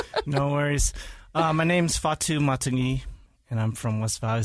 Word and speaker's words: Fatu Matagi: We're going to just let you introduce yourself because I can't get it pronounced right. No worries. My name's Fatu Matagi, and I'm from West Valley City, I guess.